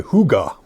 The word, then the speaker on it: hygge: Welcome to my hygge. I think it's the way it's pronounced.